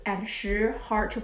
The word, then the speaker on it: 十: If you find 四 and 十 hard to pronounce, here's a little tip. 四, when you pronounce 四, think about in English, stop, sorry, 四. And then 十, like sheep, she, 四 and 十.